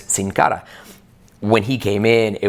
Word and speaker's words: Sin Cara: high school college so i i know it's cincara when he came in it was like the